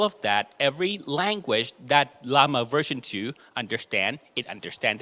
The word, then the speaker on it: Llama: I pronounce that name is it llama Or Yama as in Spanish he said Lama Okay so llama as the inventor says okay and um we